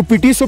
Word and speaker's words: PTSO: यहाँ पे लिखा हुआ है PTSO, इसको पीटी सो प्रोनाउंस करते हैं, एंड वी are eight 12,946 feet.